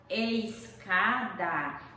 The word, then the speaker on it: escada: Por exemplo, na palavra escada, esse SC aí, ele não é dígrafo. Por que ele não é dígrafo? Porque ao pronunciarmos, emitimos o som das duas letras, do S e do C.